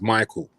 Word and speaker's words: Micall: But my dad is Ghanaian, innit? So when he would call me, he would go. Hey. My name is Michael.